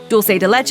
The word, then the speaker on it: dulce de leche: The word uses the Latin American pronunciation of dulce with a soft C, rather than the European Spanish ch sound, as it's believed to have originated in Argentina.